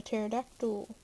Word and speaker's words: pterodactyl: oh i got a pterodactyl or epiterodactyl i have a joke why can you never hear a pterodactyl go to the bathroom you know why because the p is silent haha so funny uh